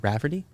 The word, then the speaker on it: Rafferty: a really cool guest we got uh Rafferty I pronounce that right yes you did and uh